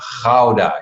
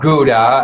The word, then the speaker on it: Gouda: ago in the netherlands in ghauda you know how to pronounce that people that's how we dutch do that not gouda as the as the americans would say no it is loud